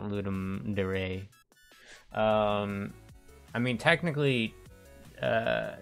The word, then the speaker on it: Ludum Dare: say ludum dare not ludum De Ray um I mean technically uh is a colloquial pronunciation is ludum dare but um it comes from Latin so the second one I think is technically correct uh but no one